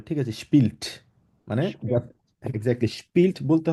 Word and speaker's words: spielt: ঠিক আছে আপু, তবে একটা জিনিস আপনি খেয়াল রাখবেন, যখন স্পিল্ট বলবেন আপনাকে জি জি টিটা একদম ক্লিয়ারলি উচ্চারণ করতে হবে, ঠিক আছে? স্পিল্ট মানে spielt.